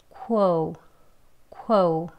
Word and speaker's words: quota: quo, quo. 네, 이렇게 발음하시고, 그 다음에 뒤에는요, 또 t, flap t예요. t 소리 내지 않고 부드러운 d 발음으로 르르르 합니다.